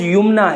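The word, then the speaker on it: یمنیٰ: تو محترم ناظرین حضرات، اس نام کا صحیح تلفظ یمنا ہے، یعنی یا کے اوپر پیش ہے، یا کے بعد پھر جو میم ہے وہ ساکن ہے، اس کے بعد نون ہے، اس کے بعد یا ہے، اور پھر نون کے اوپر کھڑا زبر ہے۔ یمنا یہ اس کا صحیح تلفظ ہے۔ اور یمنا نام کے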